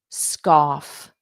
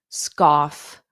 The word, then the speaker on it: scoff: Off, scoff, sk, k, k. So it's that k, k, k, scoff, scoff, scoff.